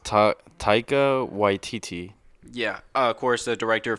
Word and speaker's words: Taika Waititi: I believe it's pronounced Taika Waititi.